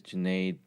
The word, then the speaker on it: Junaid: So my name is Junaid, rhymes with lemonade, and I'm a home studio architect.